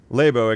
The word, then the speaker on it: Laibow: How do I pronounce that again? Laibow, excuse me.